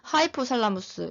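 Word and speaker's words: hypothalamus: 살라무스라고 읽고 시상하부는 하이포살라무스 이렇게 읽습니다.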